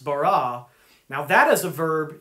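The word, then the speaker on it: בָּרָא: to create in the Old Testament language it's pronounced bara now that as a verb used only for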